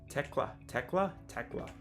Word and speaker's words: Thekla: Without the H. Thekla. Tekla.